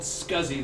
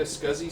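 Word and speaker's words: SCSI: Okay, it's called Scuzzy. That's pronounced Scuzzy Connection.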